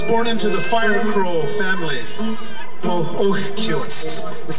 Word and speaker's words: Ohkiotst: Ohkiotst is how we pronounce that.